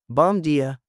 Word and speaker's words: bom dia: Bom dia, bom dia. This is, good morning. Bom rhymes with home but with an M at the end.